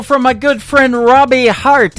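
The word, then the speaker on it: Harte: That is the latest single from my good friend Robbie Hart. It is H-A-R-T-E on her last name, and that is called Heart in Two Places. Yeah, just like your heart. That's how that's spelled.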